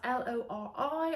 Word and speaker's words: Lori: Now this is spelled L-O-R-I. I'm not sure if I'm actually pronouncing it correctly, but I think that's how it's said.